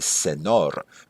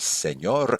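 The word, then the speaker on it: señor: quand je dis SEOR si j'avais pas le ti sur le N faudrait prononcer senor mais en réalité un monsieur donc c'est SEOR comme par exemple mon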